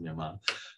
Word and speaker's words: Myanmar: So the first is Myanmar, pronounced Myanmar.